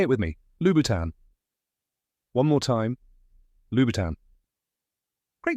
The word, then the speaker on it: Louboutin: It's a soft French tan, not a harsh tan. Now say it with me. Lubboutan.